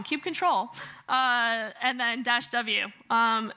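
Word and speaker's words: kubectl: the watch tool or cube cuddle or I said it wrong Cube control uh and then dasw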